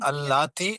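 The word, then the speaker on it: اللاتي: बस एक चीज है, अल्लाती और अल्लती के प्रोनाउंसिएशन में फर्क रखिए, क्योंकि अल्लती भी एक लफ्ज है, अल्लाती भी एक लफ्ज है, अल्लाती जमा है, जी बस ये जी, फर्क है।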